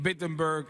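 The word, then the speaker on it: Wittenberg: Se acerca a la iglesia más grande en Bittenberg, Alemania. O no, perdón, empieza con una W, pero se pronuncia como una B.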